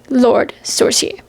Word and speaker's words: Lord Sorcier: she self-published her book Lord Sorcier, which I believe is how it's pronounced.